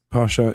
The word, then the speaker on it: Pascha: It's pronounced Pascha in it's Pascha in Greek and Pascha in Romanian and whatever in different languages.